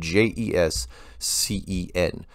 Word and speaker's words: Jessen: seen that that name Jes cen it's kind of like a funny way of saying Jason in fact if you